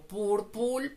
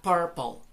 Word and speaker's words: purple: también el color púrpura que algunos lo pronuncian como púrpura fútbol no es correcto la manera correcta sería purple purple la uv y la